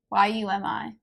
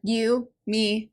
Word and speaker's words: Yumi: Y-U-M-I. You always say it like you, me, and the Nightmare Painter. It's very confusing.